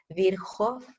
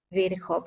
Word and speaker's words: Virchow: Este se llama Rudolf Virchow, ¿ya? Yo lo pronuncio porque sé que la CH se pronuncia como una J, la W como una V, etc.